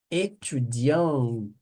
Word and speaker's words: étudiante: Étudiant, étudiante. Aí pronuncia, porque tem a vogal aqui para poder auxiliar. No masculino não pronuncia o T, tá bom?